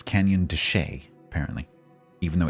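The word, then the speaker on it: de Chelly: Oh, it's pronounced Deshay. Right. It's Canyon Deshay, apparently.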